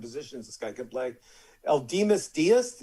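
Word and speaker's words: Aledmys Díaz: Eldemus Diaz, is that how you pronounce it, Mr. Ratner? The way I say it is Eledmus Diaz.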